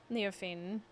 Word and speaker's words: Leofine: Leofine is pronounced Frenchly, meaning few syllables as possible.